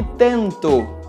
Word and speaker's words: tentou: Nesse caso, na maioria das vezes, nós simplesmente não pronunciamos o som da letra U. Portanto, nós falamos chegou, falou e tentou.